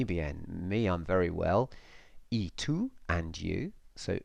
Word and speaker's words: y: to know that word it's spelt Y and it means and and it's pronounced e remember when we said